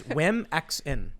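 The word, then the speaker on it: Womxn: It's women with an X. Oh, yeah. Okay, I didn't. And I've never heard it pronounced. I just saw who it. knows? So it's Wimexin. Wimexin. The X is supposed to symbolize the symbol for trans. And so they changed the O to an X.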